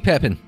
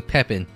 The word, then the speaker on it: Pepin: Now, you will excuse me, Pepin, if that... I'm assuming Pepin and not Pepin. A little more French pronunciation.